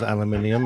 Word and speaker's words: aluminium: that's going on and the correct pronunciation is aluminium and you guys latched on to an incorrect spelling and pronunciation that was not the